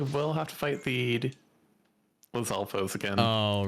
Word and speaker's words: Lizalfos: Also, it just occurred to me, I think I've been mispronouncing it, or like wrong emphasis all these years. I always thought it was Lizalfos, but I like how you say it, Lizalfos. Like the emphasis. I don't know what the proper way is. Now that you mention it. I like yours better. I don't know which is correct, but yours sounds cooler.